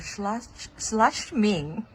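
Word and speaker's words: Schladming: And I just want to capture this view, the early morning view of Austria slashming. That's how we pronounce it.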